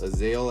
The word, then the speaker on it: Azael: you can say it's a Zale I think I think it's pronounced as ale it's the easiest way